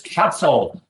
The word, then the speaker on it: Casal: When I look at his name, I keep thinking I see the arsehole. I see asshole. God. I mean, but it's Castle.